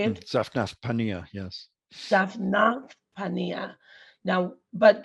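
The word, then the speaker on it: Zaphnath-Paaneah: I can't really pronounce it, but I do. Zaphanath. Say it. Zaphnath Paneah, yes.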